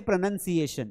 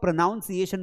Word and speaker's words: pronunciation: अब यहां पर एक्चुअल में ये है प्रोनंसिएशन। ये क्या है? यह जो वर्ड है इसको आप प्रोनाउंसिएशन बोल देते हैं। प्रोनाउंसिएशन नहीं होता।